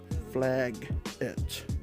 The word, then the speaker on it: Flaggett: Flaggett, and it does sound like a really bad slur name, but his name is pronounced Dr. Flaggett. So it does sound really close to like a really bad slur name that's really offensive to